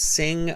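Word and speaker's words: Singh: so it's like that my given name is and my surname is sing uh and you can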